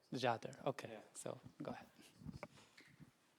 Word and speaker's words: Jader: It's Jader. Jader, okay, Yeah.